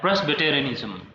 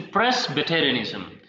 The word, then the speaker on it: Presbyterianism: And one more term we have, Presbyterianism. Sorry, I should pronounce this word like Presbyterianism. It's not a pre, it's a Presbyterianism.